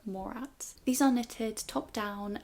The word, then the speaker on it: Morat: I keep thinking it's pronounced Morcats, but it's Laura Morats.